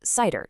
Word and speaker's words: CIDR: And yeah, it's pronounced cider just like the drink.